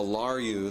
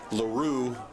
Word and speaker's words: LaRue: Isabella Larue, the 14 there, is LaRue. I think we pronounced her name wrong the entire time last year, but it is LaRue.